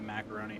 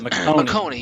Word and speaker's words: McConaughey: macaroni set up shot or not macaroni i say that every time oh it's mcconaughey yeah sorry you don't